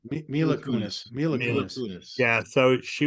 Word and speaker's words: Mila Kunis: Miley Kunis. Is that how you say her name? Mila Kunis.